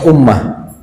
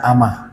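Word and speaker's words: أمّة: dalam membacanya kir Ummah Ummah itu ada tasdidnya di sana kalau sampai hilang tasdid saja itu maknanya beda Pak di kamus-kamus kata-kata umat Kalau tidak ada tasjidnya dibaca Amah artinya adalah budak loh jauh ya artinya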